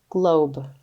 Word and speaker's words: globe: and then we have our vowel team o e meaning o says his name and E is silent he doesn't say anything let's sound this out